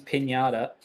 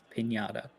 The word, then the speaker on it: Pignata: So Also, can confirm it is Pinata, not even a joke. No joking. It is Pinata. I was told after Kailami the right way to say that surname.